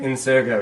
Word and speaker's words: Ingo: and the location is at the tell me if I'm pronouncing this right the Ingo theater Ingo yes yes Ingo okay you have to say with the British accent the Ingo theater movement